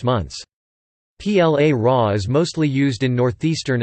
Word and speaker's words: ปลาร้า: PLA Ra, Thai, Plara pronounced place Ra acute, also called platak PLA